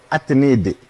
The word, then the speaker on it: Atnedi: ça veut dire, je vais prononcer ça maintenant en kabyle. Ouais. Atnedi.